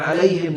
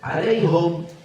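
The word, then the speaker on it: عليهم: Alaihum, boleh gak alaihum? Alaihum boleh nggak? Boleh. Karena ada salah satu qiraat Abi Ya'qub, bacaannya bukan alaihim tapi alaihum.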